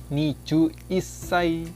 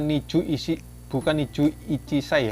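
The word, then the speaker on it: 二十一歳: Nah, atau Agusu sang wa niju isai desu. Jadi ini bukan niju ichisai ya, tapi niju isai. Bacanya itu niju isai.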